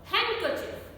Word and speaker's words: handkerchief: handsome not handsome handsome handkerchief not hand girl chief no handkerchief sandwich sandwich is wrong